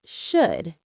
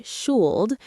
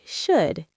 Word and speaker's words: should: The correct pronunciation is should. It rhymes with good and would. The L is silent in normal speaking. We don't say shul. We say should quickly.